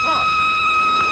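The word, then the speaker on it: Froy: My name's Troy. You said Troy? No, not even the Troy. Sorry, I can't hear. It rhymes with joy.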